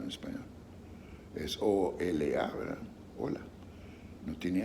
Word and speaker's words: hola: la verdad hola hola en español se pronuncia tiene tres sonidos o la l y la an hola y en inglés es how la primera cosa